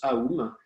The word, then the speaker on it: Om: On le prononce Aum, par contre on peut l'écrire Om.